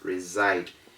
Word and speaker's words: reside: in new york yeah we don't say recite recite is wrong according to the rule it is reside and we have positive